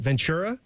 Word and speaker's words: Ventura: Ventura, how do you say it? Ventura. Oh, like Ventura Boulevard.